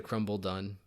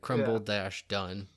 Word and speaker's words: Crumbledon: I think it's like Grumbledon. I feel like we're completely just mispronouncing No, the place, I think but it's whatever. actually Crumble Done. Yeah, like Crumble dash Done.